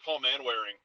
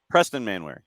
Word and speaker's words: Preston Manwaring: Ridge because uh is Paul man wearing is just an absolute monster on the wing Preston manwaring Preston manwaring excuse me I had the name wrong Preston man wearing like